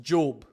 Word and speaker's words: Job: It's spelled like Job, but it's pronounced Job.